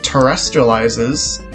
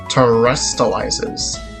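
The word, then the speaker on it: Terastallizes: um when a pokemon terrestrializes terrestrializes that's how i say it terrestrializes like extraterrestrial but like terrestri that's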